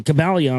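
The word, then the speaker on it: Kybalion: from the calion uh cabalion I think is how you say it KY b a l i o n KYB a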